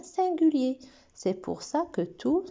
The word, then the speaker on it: tout: Tout, toute. Et là, quand il est déterminant ou bien adjectif, ça se prononce tout.